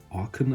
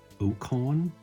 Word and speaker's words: Okaun: See about the other commander, Okaun, I think he's pronounced in English. I always thought he would be pronounced Okaun, like fauna kind of, the A-U-N.